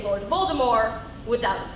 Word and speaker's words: Voldemort: I bet you can't even say Lord Voldemort's name right. Think I just said Lord Voldemort? That's right, right? Wrong. He's actually French, so it's pronounced Lord Voldemort, without a T.